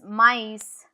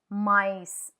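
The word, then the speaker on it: maïs: Can you see how E is pronounced separate to O? No, which is Christmas. Noel I with is mice.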